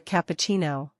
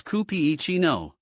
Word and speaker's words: cappuccino: Let me help with pronunciation. It's cappuccino. Notice the stress on P, cappuccino. Try it? Cappuccino? Did I say it right? Almost. The CH sounds like CH in cheese. So it's chi, not chi. Listen, cappuccino. Ah, cappuccino.